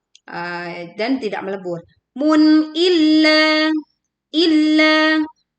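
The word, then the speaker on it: إِلَّا: Mun illa illa we press the letter lam bertasydid illa two characters long min.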